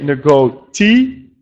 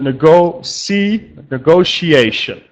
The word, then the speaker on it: negotiation: The small detail on the pronunciation is number 2, that you have to not say negotiation, the TT, but the letters T are sh. So negotiation. So not negotiation, but negotiation.